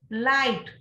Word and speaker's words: light: So wriggle, file, in this word, the silent letter is E. Write, W and E. Light, GH.